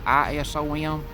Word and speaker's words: Isom: Odom, 1890 to 1987, and Isom, I-S-O-M, Isom, I guess is how you say that, 1885 to 1973.